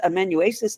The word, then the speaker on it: amanuensis: If he proves as good a husband to you as he has amanuensis to me, you'll be a fortunate woman. And is it pronounced amanuensis? Amanuensis, yes, sorry.